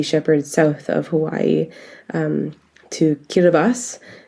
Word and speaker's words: Kiribati: sailed with Sea Shepherd south of Hawaii to Kiribati. It's spelt Kiribati, and that was a climate change story of.